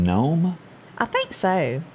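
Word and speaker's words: Noem: we hate to see that christie do you pronounce her name gnome i think so gnome as we head to south dakota she said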